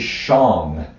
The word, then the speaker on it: shang: going to use is Shang it's spelled s-h-a-n-g but the a is pronounced like an O so which song